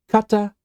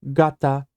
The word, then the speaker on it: 方: This kanji can be pronounced kata or gata or whole, and it has this very long list of meanings.